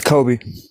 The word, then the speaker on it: Coby: And well, we want to welcome I want to make sure I'm pronouncing your name right. Is it Kobe Cob? It's Kobe.